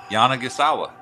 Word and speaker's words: Yanagisawa: don't know how many Canadian players name or mispronounced in Japan that's exactly how I had it written out the first time yeah Yana gasawa that's better I'm sorry it's my Philadelphia accent